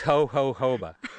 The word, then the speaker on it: jojoba: to pronounce it well we just say the J's are pronounced like an H you know we don't